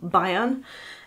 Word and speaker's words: Bayern: I'm not sure if it's supposed to be pronounced Bayern, but I am German and I'm going to pronounce it like the German state of Bayern.